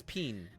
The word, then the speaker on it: Pean: Peen. No, Okay. P-E-A-N. Dr. Peen. It Okay. doesn't make a difference in the pronunciation, Monk, which is where the problem lies.